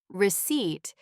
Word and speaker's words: receipt: Receipt. The P is silent.